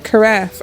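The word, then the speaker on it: carafe: No, I I pronounced it right. Karaf.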